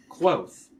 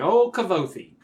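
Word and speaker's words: Kvothe: a whoa yeah yeah it's like rhymes with quote Oh anyway the one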